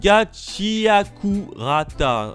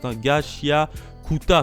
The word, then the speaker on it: Gachiakuta: démarre avec la nouveauté, Gachiakurata, c'est comme ça que ça se prononce, Gachiakuta plutôt. C'est une petite nouveauté qui